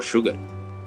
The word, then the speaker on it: sugar: Sugar is the only word in English literature or in the vocabulary where SU is called shu. This is the only word wherein U is converts are as H.